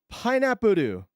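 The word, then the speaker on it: パイナップル: Now, the fact that it already has an L will tell you that it's going to be a little hard to pronounce in Japanese, but the answer is pineapp. Pineappu.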